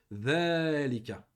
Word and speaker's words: ذلك: Donc ça, on a déjà parlé, hein, que dhalika, on a une prolongation dans dhalika qui se prononce mais qui ne s'écrit pas. Dhalika.